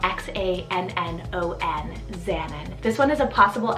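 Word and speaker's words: Xannon: on today's list so this is the name xanan spelled x-a-n-n-o-n xanan this one is a possible african rooted name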